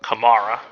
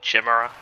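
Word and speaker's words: chimera: So, here's where we're going to see our first kamar, which I think that's how you say it. I think as a kid I always called it a chimra.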